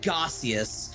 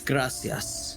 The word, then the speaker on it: gracias: I'm like, it's not fucking gaseous, it's gracias.